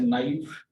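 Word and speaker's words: knife: इसी तरह से के नाइट पहलवान को कहा जाता है और इसी तरह से नाइफ और इसी तरह से नाट, नो, इन सब में जो के है वो साकिन रहेगी।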